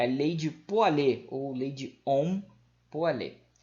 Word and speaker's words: Pouillet: Tem, é a lei de Poilet, ou lei de Ohm-Poilet. Se escreve Poilet, mas se fala Poilet, tá?